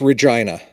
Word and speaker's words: Regina: read it how is it it's it's it's Regina okay yep that's exactly right it it rhymes with yeah I know I know I